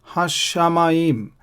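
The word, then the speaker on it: הַשָּׁמַיִם: Again here, Hashamaim, Hashamaim. So this shin has a Dagesh and I'm pronouncing it twice.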